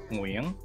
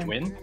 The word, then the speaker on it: Nguyen: It's very difficult for most people to say, but the key thing to remember here is that it's one syllable. It's monosyllabic, so it's win, like win or lose. So my name is Nguyen, and that's enough, right?